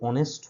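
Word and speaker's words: honest: class five থেকে আমরা পড়ছি যে এখানে শব্দটি অনেস্ট হলেও মানে এইচ আছে প্রথমে এবং এইচ কনসোনেন্ট হলেও এর যে উচ্চারণ সেটা হচ্ছে অনেস্ট অনেস্ট কিন্তু না তাহলে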